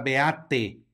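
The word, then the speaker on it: beatae: tenemos la palabra beate recuerden nuevamente aparece al final una ae que se pronuncia como e cuando veamos a e la gran mayoría de las veces en latín salvo algunas excepciones se pronunciará como e Lo mismo sucede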